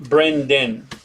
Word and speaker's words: Brendan: So it's pronounced Brenden. D-E-N? It's pronounced D-E-N, but it's spelled D-A-N.